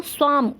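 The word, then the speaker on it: swarm: इसके अंदर आप जो है वो हल्का सा साइलेंट है, आपको बहुत तेज नहीं बोलना, आपको स्वार में नहीं करना है, आपको स्वाम मतलब बहुत हल्का सा साउंड आएगा, ओके।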